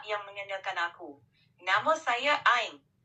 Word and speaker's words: Ain: Nama saya Ain. Ejaannya A I N.